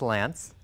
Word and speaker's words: Lance: the Ikea family Ilana my name is Lance it rhymes with France and I'll be training